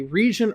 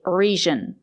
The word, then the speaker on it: region: It's not correct to say region. We have to say region. We have to use the J sound, not the sound. Sometimes the letter G is pronounced with a sound, but not in this case. we have to say region with a juice sound like in juice and jump.